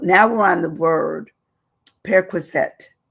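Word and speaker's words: perquisite: we're on the word periset it's it's almost like perette but it's periset periset um it's p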